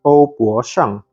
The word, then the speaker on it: Ouboshang: The Mandarin pronunciation should be OuBoShang.